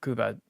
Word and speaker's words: Cuba: In August of 1912, Baldwin delivered a small 240 tender locomotive to the central pass on Cuba or Kuba if we want to be more correct with pronunciation.